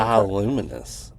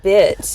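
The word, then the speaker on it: bituminous: Bioluminous. It's not bioluminous. That's how you say it. It's bit.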